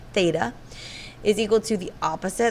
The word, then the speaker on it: theta: it's always meant for an angle but it's pronounced theta is equal to the opposite that's where the